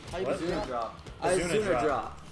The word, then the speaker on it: Izuna: Izuna drop. Izuna drop. Izuna. It's Japanese. They pronounce it E.